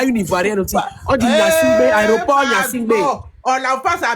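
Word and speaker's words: Gnassingbé: sortie de l'aéroport de Yansibé à Lomé. Faut bien prononcer notre aéroport, hein. Faut pas manquer de respect à notre... On dit Nyansingbe.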